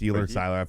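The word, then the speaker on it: Sieler: I guess getting Zach Seiler back was a huge, or is it Seiler or Sealer? Seiler. I've heard multiple different pronunciations.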